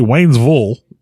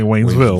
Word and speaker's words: Waynesville: don't ask me why we don't say Waynesville we say Wayville Wayville Missouri yeah but I mean if you want to say it right you want to say it like the locals do when you're in